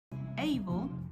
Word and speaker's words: able: Able suena el diptongo, able, mientras que en ability suena schwa.